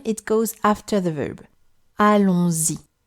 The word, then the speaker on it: allons-y: Allons-y. You hear z because there is une liaison, but I'm sure you understood that already.